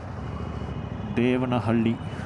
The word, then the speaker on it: Devanahalli: Devanahalli. Yeah, that is how it's pronounced.